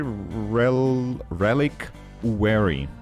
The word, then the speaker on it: reliquary: going to build a reliquary reliquary relic re Relic wary is how they say it where I'm from we have slate we're